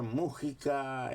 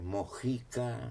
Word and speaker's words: Mujica: música sí pero después mujica en otros lugares mujica en algunos lugares con jota en otros lugares con que en algunos lugares mojica como en méxico pero al mismo apellido